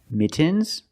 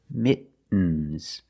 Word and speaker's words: mittens: Mittens, more commonly, mittens.